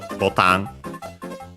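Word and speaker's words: ボタン: It's actually from Portuguese botão, and that's why it's like that, botan, and also unaccented.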